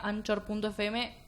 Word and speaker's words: Anchor: No, hay una plataforma que se escribe Anchor, se pronuncia Anchor, tenés razón.